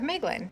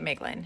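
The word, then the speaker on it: Maeglin: to King thingle and father of meglin mlin however you want to pronounce it I'm pronouncing it meglin he dwelt in the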